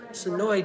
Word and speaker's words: Senoia: that notification turned on live from sonoya georgia sonoy georgia home to the walking dead here's the michonne outfit it's spelled sonoya but it's pronounced sonoy leave me